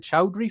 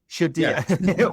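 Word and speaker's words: Chaudière: So, excuse my pronunciations here. I'm going to try and talk about the falls. Is it Chowry Falls? Uh, shier. Shadia miles off.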